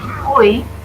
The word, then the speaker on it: buoy: We say boy, just like a boy, a little boy.